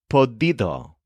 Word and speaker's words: podido: other verb after it the participle of p is podido which rhymes with some of the other participles we've learned such as tenido and S here's an